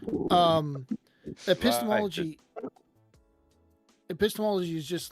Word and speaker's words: epistemology: Apostoligy or whatever it was? How do you say that term? Epistemology? Epistemology.